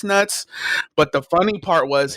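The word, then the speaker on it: Nutz: tula highs name was mr. nuts n UT z and he was always like yeah there's an there pronounced nuts he's like no it's nuts but the funny part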